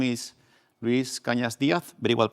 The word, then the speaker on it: Cañas: My name is Luis Kanyas. Very well pronounced by the way.